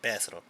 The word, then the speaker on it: Pesaro: And when we went to Pesaro, that's honestly how they say it, Pesaro. The Italians say it.